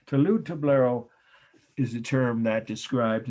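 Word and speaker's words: talud-tablero: you i will t a l u d touloud hyphen tablero t a b l e r o tolu toblero is a term that describes and here we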